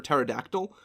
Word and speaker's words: pterodactyl: Because the P is silent.